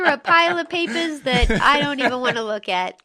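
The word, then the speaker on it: Edo: 14 to study in Ido I believe that's how it's pronounced was present day Tokyo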